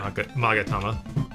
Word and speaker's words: Magatama: It says Magatama. What? Magatama. I don't trust your pronunciation on anything.